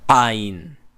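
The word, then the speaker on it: עין: Ein. Ein. Okay? And how it's pronounced at the back of the throat. Okay? Down, over. Just like you're being choked or gargling or you're coughing, a really bad cough.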